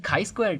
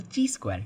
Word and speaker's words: chi-square: And the next thing is the chi-square test, or also called as the chi-square test. You can pronounce it both ways.